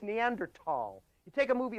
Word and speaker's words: Neanderthal: The first one is the mispronunciation of the word Neanderthal. The word, folks, is not Neanderthal, not Neanderthal at all. It's Neanderthal.